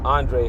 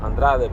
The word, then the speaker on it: Andrade: So Demetrius Andrade uh Andre, I don't know why they call him Andre. In Spanish it's Andrade.